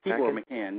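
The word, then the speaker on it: Tibor Machan: Tibor McCann, yeah.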